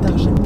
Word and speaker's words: Target: Il y a beaucoup d'Américains, apparemment, qui disent Target parce que ça s'écrit T-A-R-G-E-E. Ils le prononcent Target ou Target, je sais pas. Mais en gros, il paraît que les gens un peu pète-pète, ils le prononcent à la française parce que vous savez